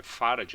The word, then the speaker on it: farad: atenção tá pessoal que o d é mudo tá é farad não é farad Apesar de que a